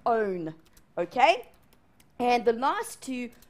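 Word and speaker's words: -one: And it ends in O, not one. It's pronounced own.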